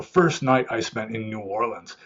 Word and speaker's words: New Orleans: It's not pronounced New Orleans, mind you. Everyone there calls it New Orleans. So if you go there and call it New Orleans, people know you're from out of town, and I don't know,